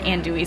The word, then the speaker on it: andouille: Andouille?